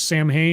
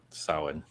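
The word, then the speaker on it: Samhain: is it is it I've always heard it pronounced two different ways Sam hay and sin which is the correct one sin sin I figured okay that's me trying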